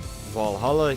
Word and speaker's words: VA-11 HALL-A: And right now, I'm playing through another one called Valhalla Kids, or if you're going to be a nerd and insist on pronouncing it the way it's written, VA-11 Hall-A Kids. For the uninitiated, VA-11 Hall-A